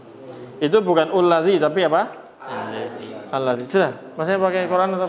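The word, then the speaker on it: الذي: Ullazi. Bukan. Itu belum. Nanti belum. Ini ada ilmunya nih. Itu bacanya bukan ullazi tapi allazi. Ada tulisan itu bukan dhammah.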